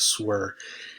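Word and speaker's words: SSWR: for instance is called swear it's the that's the acronym right there on the screen but it's pronounced swear and the the acronym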